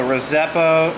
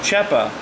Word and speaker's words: rzeppa: This particular type of joint is called the rzeppa, or pronounced rzeppa, depending on what part of the world you're from.